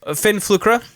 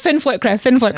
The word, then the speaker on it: Fin Flükra: I am a wedding planner extraordinaire of Fin Flükra. Flkra, see, you were pronouncing it right. It's all good. Yeah, well, let's talk about the name. Fin Flükra.